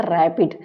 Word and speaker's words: RAPD: और इन्होंने इसको प्रोनाउंस किया था रैपिड, मतलब फास्ट कोई काम करने वाला।